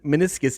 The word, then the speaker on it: meniscus: it's so bad okay meniscus tear that's how you say it okay um so yeah that that totally threw me off anyway okay okay so we're so they're saying meniscus tear okay and they're